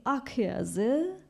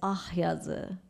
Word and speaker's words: Akyazı: Eventually, and then I figured out, no, it's not al yazı or al beyazı. It's actually ak yazı, because ak is white, and it's used in that time, and also he's pronouncing as ah yazı. So if you could hear it clearly, it says ah yazı, ah yazı.